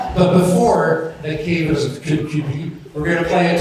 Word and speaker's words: Kirkcudbright: It's actually pronounced Kirkcudbright.